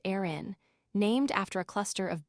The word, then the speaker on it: Aran: The famous story goes that these incredibly heavy sweaters, specifically the Aran sweater, pronounced Aran, named after a cluster of beautifully unforgiving islands